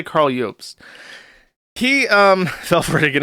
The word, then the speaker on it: Jobst: I don't know if you pronounce it Jobst or Jobst. I'm going to say Jobst because that looks correct to me. He looks Scandinavian, and the J is a Y in Germanic languages.